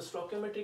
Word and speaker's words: stoichiometry: तो अगर आप बात करते हो सर स्टोइकियोमेट्री की, तो स्टोइकियोमेट्री क्या है, तो देखिए हमने पहले प्रोनाउंस किया स्टोकियो की, फिर ओम, फिर ई, फिर ट्री।